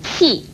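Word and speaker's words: 跂: 其又念气，蜥蜴气四声气，与这个气字通用。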